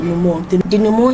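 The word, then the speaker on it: dénouement: later moves to resolution otherwise known as the dumo is spelled d e n o u e m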